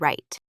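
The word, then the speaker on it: write: But sometimes W is silent sh. Now seriously, we do not say W in the word right.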